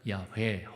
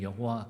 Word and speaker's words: 야훼: 이제 우리 성경에는 여호와 그렇게 돼 있지만 사실 구약 신학자들의 연구나 어원적으로는 아마 야훼라고 읽어야 좋지 않을까.